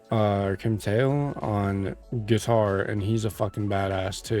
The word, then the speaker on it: Kim Thayil: I think his name is pronounced Kim Thayil Kim Thayil on guitar and he's a badass, too.